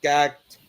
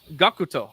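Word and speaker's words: Gackt: Dwango phone service featuring Gact, Gakuto. who is a known musician. Sorry, within the I theme- like Gakuto a lot. Oh wait, what? Gakuto is how it's said.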